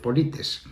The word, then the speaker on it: Polites: Él es doctor en filosofía, profesor universitario y fundador del Club Polites. Lo pronunciamos así como se pronuncia en español.